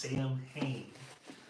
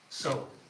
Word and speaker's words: Samhain: I've heard them say several different pronunciations of it, but it's actually spelled as if it's pronounced Samhain, Samhain, but it's pronounced Samhain.